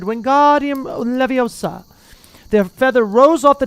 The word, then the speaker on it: Wingardium Leviosa: Wingardium Leviosa, he shouted, waving his long arms like a windmill. You're saying it wrong, Harry heard Hermione snap. It's Wingardium Leviosa. Make the ga nice and long.